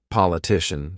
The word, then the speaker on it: politician: And you can see here, these are CIAN, but this one at the end is CION, but it's still the same. Shun, politician, suspicion.